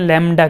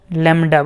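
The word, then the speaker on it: lambda: इसको डिनोट करते हैं लैम्डा के साथ, क्या कैसे, लैम्डा बोलते हैं इसको, लैम्डा, लैम बी भी होता है इधर, LAMBD, तो बी को थोड़ा साइलेंट कर देना, सीधा लैम्डा ही बोलना है, ठीक है।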